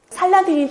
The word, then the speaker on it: 살라딘: 그 여러분들이 살라오 아딘이라고 발음을 빨리 한번 해 보시겠습니까? 살라오 아딘. 살라딘. 빨리빨리 하니까 살라딘이라는 발음이 되죠. 그러니까 유럽 사람들은 살라딘이라는 발음이 훨씬 더 수월했다는 거죠.이 살라오아딘이라는 이름은 정의로운 신앙이란 뜻입니다.